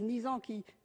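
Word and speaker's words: Nisand: Alors j'entends bien de grandes personnalités médicales comme le professeur Axel Kahn, comme le professeur Israël Nizan, c'est Nizan, oui, c'est ça, qui se prononce pour la pénalisation du client.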